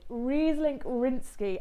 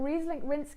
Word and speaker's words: Ryzlink rýnský: going to break down and basically this wine reese link rinsky as you see on the bottom you can see it just at the bottom here but reese link rinsky is basically the czech word for ryan riesling